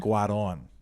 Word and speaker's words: Cuarón: Cuarón. But he keeps calling him the wrong name. Alfonso Cuarón.